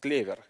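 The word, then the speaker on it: клевер: clever but also because clever in Russian is the word for clover yeah it's pronounced clever and four leaf clover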